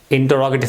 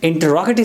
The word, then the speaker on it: interrogative: How do we change interrogative sentences from direct speech into indirect speech? First, just a reminder, a correction. Normally this word is pronounced as interrogative. The correct pronunciation of this word is interrogative.